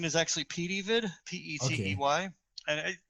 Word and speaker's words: PeteyVid: sure that that'll be fine so um what's petitvid so uh the pronunciation is actually p d vid p-e-t-e-y and it's fine to say the way